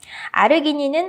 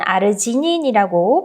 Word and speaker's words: 아르기닌: 아르기닌은 아르지닌이라고 발음을 할 수도 있고요.